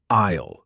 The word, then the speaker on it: aisle: Oh, that spelling really doesn't match how it sounds at all, does it?